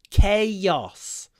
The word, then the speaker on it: chaos: the same Roots but the pronunciation is actually quite different chaos so it's k k or even with the Russian a Kos chaos chaos and it's a double stressed word I would say chaos